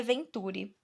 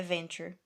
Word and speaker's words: Venture: Eu li a Venturi. Ai, que vontade de falar Venturi. Deixa eu ver no Google Tradutor como é que se pronuncia isso. Fala Venturi, amigo. Venture. É Venture.